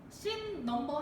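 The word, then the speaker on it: S#: 보기는 나의 씬 넘버 36번에 해당하는, 자 여러분 씬 넘버라고 읽으셔야지 S샵이라고 읽으시면 안 되죠. S샵 36이라고 읽으시면 안 되고 씬 넘버 36에 해당하는 원작 소설 부분이다.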